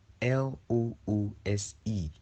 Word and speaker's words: loose: e is pronounced lose l o o s e is pronounced loose l o s s